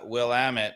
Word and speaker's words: Willamette: this is a uh Willamette which which rhymes with damn it from Oregon yeah from